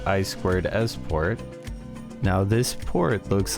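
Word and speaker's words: I²S: an optical port and what looks like iis but is pronounced i squared s port now this port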